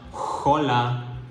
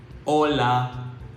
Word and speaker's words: hola: pronunciation so it is the letter H is always silent in Spanish so this would be remember we say hola and not hola we say hola the letter J sounds